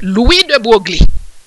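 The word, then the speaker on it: Louis de Broglie: all kind of pronunciation but it is french and i do speak french so it is louis de buergli okay is that even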